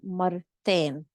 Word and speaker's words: مرتين: Notice that typically we do not pronounce the round ta at the end. However, over here we're going to pronounce it because it's there are other letters after it. So it's going to become مرتين.